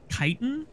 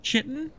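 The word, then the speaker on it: chitin: the okay also I learned that this is pronounced kitan kitan and not chitten so I'm learning every day um what do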